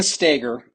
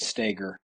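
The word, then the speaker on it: Stoeger: referring to uh Ben stagger you you you would spell it Stoger but you pronounce it stagger he's kind of the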